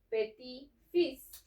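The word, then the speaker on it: petit-fils: En este caso, para nieto va a decir peti fis. Okay. Y en este caso para nieta va a decir, aquí sí vamos a pronunciar la t de petit, pero aquí ya no.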